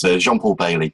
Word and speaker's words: Jean-Paul Bayley: Yeah, so it's Jean-Paul Bayley, but yes, thank you, Kelly.